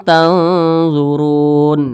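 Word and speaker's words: تنظرون: tadi Ikfa Hakiki ausat cara bacanya itu antara samar dan dengung itu seimbang jadi antara bunyi n dengan bunyi Eng itu seimbang di tengah-tengah dia jadi dibaca Wa Antum tanzurun tanzurun nah seperti itu kemudian di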